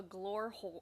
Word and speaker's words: Glore: Glore hole. The E is silent.